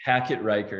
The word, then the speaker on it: Hackett-Reicher: want to mispronounce it hack it riker it's hyphenated oh okay awesome awesome wonderful